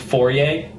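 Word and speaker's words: Fore: The Fourier, it's spelled F-O-R-E, but it's pronounced Fourier, tribe was haunted by a creeping invisible terror,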